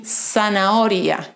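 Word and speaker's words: zanahoria: in the middle of the world like in sanaoria carrot almoada pillow albaca basil always silent and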